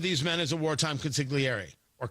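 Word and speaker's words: consigliere: men as a wartime consiliary or consiliary you're not supposed to pronounce the G as I'm told they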